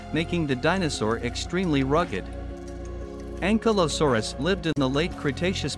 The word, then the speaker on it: Ankylosaurus: Name meaning, fused lizard, pronunciation, Ankylosaurus, food habit, herbivore, who named, Barnum Brown.